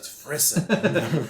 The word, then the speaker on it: frisson: So frisson would be if it's the French version. And so the grade 9 French students learn how to say frisson. Nice. There you go. So both of the pronunciations that I offered were incredibly inaccurate. I'm sure it's derived from another language to begin with. It's frisson.